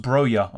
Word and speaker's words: Broja: It's pronounced Broja.